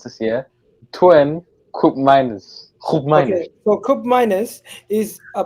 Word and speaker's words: Koopmeiners: Listen, my mom's got a Dutch passport, so let me pronounce this here. Koopmeiners.